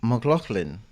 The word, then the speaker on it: McLaughlin: It's a real pleasure to be here with Bay McLaughlin. Did I say it correctly? Thanks so much. That's right. You got it.